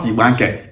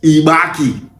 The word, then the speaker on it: Igbanke: is how that name Ibaki was gotten. It was the Brit that spelled their name as Ike. No it's not Ibank is Ibaki.